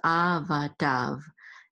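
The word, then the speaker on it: עבדיו: And this yud is silent, but it's silent. We don't pronounce it, but this denotes plurality. Okay, so this makes, this is servant, but it, the with the yud here makes it servants because of this yud. And we are though going to pronounce this vav. So this with the dalet says dav. So this is avadav.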